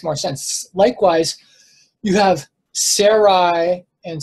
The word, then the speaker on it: Sarai: Likewise, you have Sarai and Sarah. It sounds very similar. I pronounced it originally as Suri and Surah.